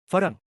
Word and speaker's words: ฝรั่ง: But in ฝรั่ง meaning Westerner, the second syllable often shifts to a mid-tone in casual speech instead of its proper rising tone.